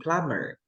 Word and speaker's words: plumber: m b m b so when you have the amb you never pronounce the b did you understand yeah